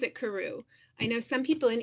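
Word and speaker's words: Karou: else asked me also, how do you pronounce Carew? And I pronounce it Carew. I know some people in England especially say Carew, but I say Carew, but I don't care.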